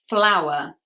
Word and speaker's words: flour: Number 40 is flower. Flower. Same pronunciation as the beautiful flowers we have in our gardens, for example, the plants. But the pronunciation is the same. They are homophones. It's that ow phoneme.